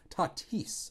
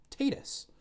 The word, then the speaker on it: Tatis: all over fernando tatis tatis i gotta remember to say it that way i learned how to say his name just by reading it my brain went tatus because i don't see